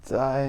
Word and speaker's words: 在: So, Tsai Zai.